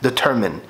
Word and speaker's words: determine: كنا القرف اللي كنا بنسمعه كان ايه، هو نطقها الحقيقي determine يعني معناه ان انت تحدد حاجه.